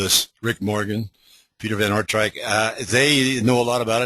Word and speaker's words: Aartrijk: You can stare at those letters all you want, but it's pronounced Aartrijk, and Aartrijk is a town in northwestern Belgium